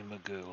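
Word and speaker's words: McGough: his name is actually magoo like you're not just memeing well it's not spelled like mr magu but his name is magoo yes google alex magoo spelled m-c-g-o-u-g-h he actually exists in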